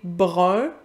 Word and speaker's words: brun: La plupart des Parisiens vont, par exemple, ils ne font plus la distinction entre brin et brun. Ils vont prononcer une espèce d'entre-deux pour chaque.